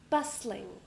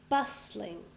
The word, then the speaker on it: bustling: Next word, bustling. So, 2 syllables. Bustling. I stress the first one. And there is a silent t. So we don't say this one.